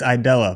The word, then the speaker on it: Aidala: Uh, I believe it's Idella, but I'm not honestly sure because everyone says it differently.